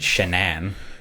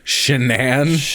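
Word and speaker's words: Shanann: mother i don't like that her name is pronounced shenan shenan it's spelled as a shannon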